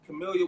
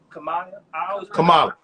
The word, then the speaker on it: Kamala: You know, like my boy, man, he got his own podcast as well, and I seen Camellia was on there a couple weeks ago. Kamala. I'm sorry, I always pronounce her name wrong.